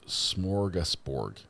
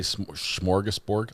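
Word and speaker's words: smorgasbord: It's smorgusborg. Did I say smorgesborg? I I added a sh. I added two hes in there. Uh, every s has an h after it when I pronounce it.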